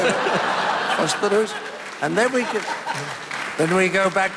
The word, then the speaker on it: Västerås: Västerås.